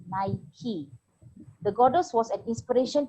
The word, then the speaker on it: Nike: nike the name the the name nike came from the greek goddess of victory and is pronounced naiki the goddess was an